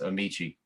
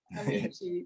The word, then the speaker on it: Amici: It's been pronounced many ways, but it's yes, Amici. Amici.